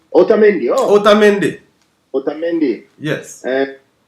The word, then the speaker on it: Otamendi: Romero, we have, I can't say that name, Chamendi. Otamendi, oh, Otamendi. Otamendi. Yes. And some of these names I can't pronounce.